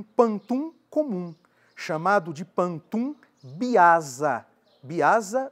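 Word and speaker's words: biasa: Quando elas são independentes, tem-se um pantum comum chamado de pantum biaza.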